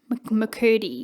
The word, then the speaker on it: McCurdy: McCurdy? McCurdy, yes.